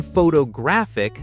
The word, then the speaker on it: photographic: to the second syllable, then photographic, the adjective, stress moves again to the third syllable.